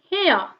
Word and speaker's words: heir: Then another word, hair. Hair, h-e-i-r, here, h is here, h is consonant, but the pronunciation becomes a.